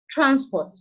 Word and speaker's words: transport: Transport.